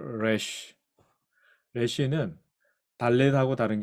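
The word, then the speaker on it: רֵישׁ: 물론 래쉬 온라인 현대 히브리에서 래쉬 발음 쉽지 않아요. 혹시 불어 공부하신 분 계신지 모르겠는데 불어의 에하 발음하고 거의 비슷합니다.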